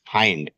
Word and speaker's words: hind: ठीक, सबसे पहले जो मेन टर्म है हाइंड, देखें इसे हिंड मत पढ़ना अन्यथा आपकी बेइज्जती हो जाएगी। इसका करेक्ट प्रोनाउंसिएशन होता है हाइंड।